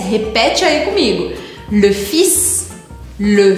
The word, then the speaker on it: fils: Presta atenção, porque aqui você precisa pronunciar esse S. Repete aí comigo. Le fils, le fils.